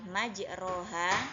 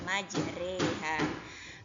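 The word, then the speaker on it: مجراها: akan seperti ini ada perbedaan lafal yang kita baca dari tulisan yang sebenarnya tulisan yang sebenarnya adalah majroha namun pada pelafalannya kita baca majreha karena RO di situ atau lafal majroha di situ adalah bacaan imalah maka seharusnya harokat roh yang ada pada ayat tersebut harus kita miringkan 2/3 nya ke harokat kasrah maka yang awalnya bacaan ro akhirnya menjadi membacanya Rey ya Nah itu adalah bacaan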